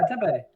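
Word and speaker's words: tempeh: And there's a Tempe, right? Tempe. Is that how you pronounce it? Yeah, Tempe. Sorry, just that Tempe.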